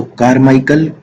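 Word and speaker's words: Carmichael: है कार मिकल अब या ये मेरी को प्रोनाउंस नहीं हो रही है हा तो कारमाइकल कोल फील्ड है कार माइकल अब है अगला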